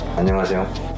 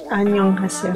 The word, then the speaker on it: 안녕하세요: Yeah, say 안녕하세요. 안녕하세요. Did I say it wrong? No, you said it right. 안녕하세요. 안녕하세요. Everything perfect except for 안녕. 안녕. 안녕하세요. Yeah, that's better.